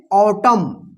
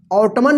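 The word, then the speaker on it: autumn: तो इसको क्या पढ़ेंगे, ऑटम, ऑटमन मत पढ़िएगा, ऑटम, ऑटम का मतलब क्या होता है, पतझड़, ठीक है।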